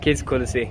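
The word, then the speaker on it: Kız Kulesi: Tuz Kulesi? Kiz Kolesi. Kiz Kulesi.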